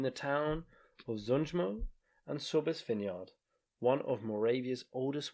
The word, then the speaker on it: Sobes: a trail between the town of zunjimo and sobes vineyard one of moravia's oldest wine producing locations